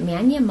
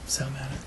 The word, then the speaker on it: Sal Mana: Local author and historian Sal, is it Mania? How do you say his name? Sal Mana.